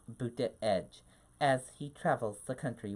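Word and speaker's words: Buttigieg: a background as unique as his malts name pronounced booty edge as he travels the country Wayne reaction to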